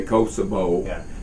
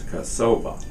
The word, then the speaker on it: Kosova: when you were in kosova that's the way you pronounce it she's she's Americanized it and says now because Americans say Kosovo but the correct pronunciation I'm told is kasova and so now we